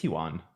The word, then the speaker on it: yuan: that you won okay yuan is how you say it you won you went or you won i think it's huan i'm a yolo for